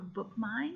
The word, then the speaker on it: BookMyne: go to your App Store search for a book mine which is spelled via of K my and he and